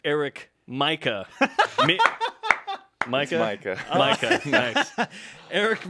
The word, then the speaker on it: Mika: I believe it's pronounced Eric Mika.